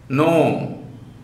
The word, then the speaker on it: gnome: And then foreign, foreign, align, assign, benign, B-E-N-I-G-N, benign, consign, ensign, malign, length, strength, gnome, G-N-O-M-E, the spelling, gnome. G is deleted. Gnome. We pronounce gnome only, not gnome like that.